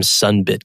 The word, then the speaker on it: Sunbit: space and we were looking for something that is rhymes with either credit or debit but doesn't have this